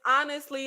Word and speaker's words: honestly: honest wait hold on I'm saying aunt but is it just pronounced honestly hey yes it's honestly like okay so it's honestly see you got to be all extra with the a in the front but I I see